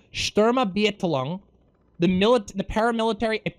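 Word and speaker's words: Sturmabteilung: the afternoon the sturm sorry let me pronounce this shturma beatlong the milit the paramilitary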